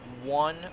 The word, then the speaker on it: one: Like the other word, W-O-N, that looks more like one.